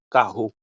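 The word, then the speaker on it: carro: vraiment prêter attention donc les nous dr en portugais les n dr il prononcé comme hz bien pays n de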